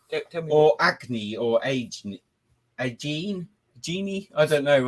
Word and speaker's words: Agene: Or acne or agene. I don't know how to pronounce this.